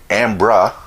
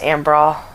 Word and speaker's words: Ambra: BER to BRA, and she actually intended it to be pronounced Ambra, but before I was even in kindergarten, I realized what my name was, and so I changed the pronunciation from Ambra to Ambra.